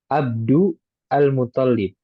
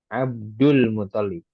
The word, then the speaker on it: Abdul Muthalib: Nah, bisa kita tidak baca. Jadi dari dal langsung masuk ke lam ya. Abdul Muthalib. Kan pembacanya ada dua kan. Abdu al-Muthalib dan Abdul Muthalib. Nah, yang lebih baiknya langsung masukkan dari dal masuk ke lamnya langsung.